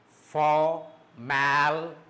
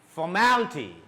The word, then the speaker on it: formality: That means that the syllable before ty. See, for example, here the syllable is ty, t, and the syllable before ty is mal. So you can have a raise of your voice. You will go up and then down. For is normal, mal is up, raise is stressed, and then down ty.